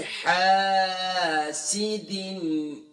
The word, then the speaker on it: حَاسِدٍ: اب حاسد میں دیکھیں ہا کے بعد الف مدہ ہے، ایک الف کی مقدار کھینچیں گے. اکثر پڑھتے ہیں وَمِن شَرِّ حَاسِدٍ، وَمِن شَرِّ حَاسِدٍ، حاسد، اکثر پڑھتے ہیں حاسد، سیدن نہیں ہے، سین کے نیچے صرف زیر کی علامت ہے، کھینچیں گے نہیں.